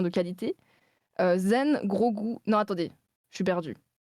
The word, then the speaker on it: Grogu: Attention, vous me dites si je prononce faux à nouveau, hein. Grogu.